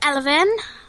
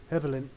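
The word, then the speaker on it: Evelynn: yes anyway you're playing eleven is that how I pronounce it Evelyn yeah Evelyn Jesus chatty me sort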